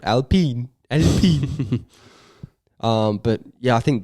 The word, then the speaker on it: Alpine: sneak up where australian it's spelt alpine we're not some french little loser they're called alpine um but yeah i